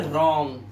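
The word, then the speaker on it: wrong: रॉन्ग। और यहां पर आर से पहले क्या है? डब्ल्यू। लिखने को क्या बोलते हैं? राइट। आर से पहले क्या है? डब्ल्यू है तो साइलेंट हो गया।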